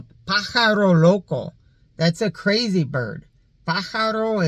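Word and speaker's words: pájaro: Paro is how you say bird.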